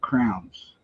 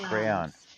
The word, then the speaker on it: crayon: stained glass but with crowns cray crayons crowns it's two syllables Crayolas cray I will